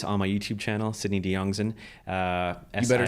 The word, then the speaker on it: Diongzon: all those stories on my YouTube channel Sydney de youngson uh you better spell that I will I will so s-i-d-n-e-y not